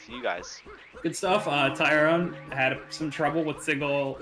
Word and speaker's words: Tyron: This is Tyrone. So yes, it is Rone. Not Tyron.